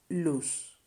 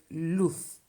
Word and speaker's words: luz: le traceta right well it is true that in spain we are supposed to say loof but in the kairi islands where i am from like in many other spanish-speaking countries we don't pronounce la letra seta like that but like an s the thing is that both options luth or luz are correct you just have to